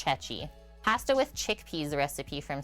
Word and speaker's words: ceci: at this pasta e I'm guessing it said like pronounced chechi pasta ichet or cheki I think it's chechi pasta with chickpeas recipe